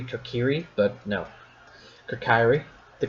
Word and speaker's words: Kokiri: the Kokiri if retiree apparently it's supposed to be Kokiri but no to carry